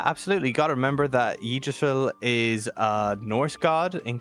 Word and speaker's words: Yggdrasil: Essentially, Barbarians are connected to the tree Yggdrasil, whatever you want to call it. I don't know how it's You pronounced it perfect first time. Yggdrasil.